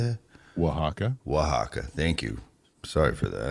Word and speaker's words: Oaxaca: Oaxaca. Thank you. Sorry for that. Or if you're from Texas, it's Brohaca.